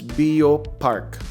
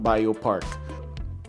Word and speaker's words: Bioparc: By taxi, just pronounce it right. It's Bio Park, not Bio Park.